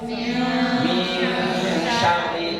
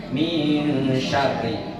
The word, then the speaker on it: min syarri: Terus yang kedua, ayat yang kedua, min syarri ma khalaq. Nah, itu ada Bu, apa Bu? Nun mati ketemu dengan shin. Apa hukumnya? Ikhfa hakiki. Cara bacanya gimana Bu? Min syarri itu didengungkan. Min syarri.